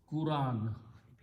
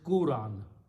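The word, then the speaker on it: قرآن: now some people pronounce Quran okay some people pronounce Quran some people pronounce Quran all of them are wrong okay all of them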